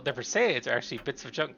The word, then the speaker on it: Perseids: I believe that's pronounced Perseids.